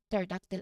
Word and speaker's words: pterodactyl: start of a word, that P is almost certainly silent. Okay, this pattern is often a clue to the words Greek origin and will help you pronounce these specific words correctly.